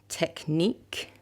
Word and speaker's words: technique: Another word, giraffe, technique, okay? These are words of French origin, and words that are often of French origin have the last syllable that is stressed.